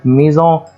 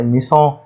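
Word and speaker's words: maison: اس قال لي الاس اذا ا اتت بين حرفين متحركين فتنطق زد زي كلمه ميزون ما ينفعش اقول هنا كلمه ما ينفعش انطع ميسون خطا لان هنا في حرف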